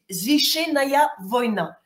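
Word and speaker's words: Священная война: la translitération en alphabet latin donc ça se prononce zichenaya Vona zichenaya Vona et ça veut dire guerre sacrée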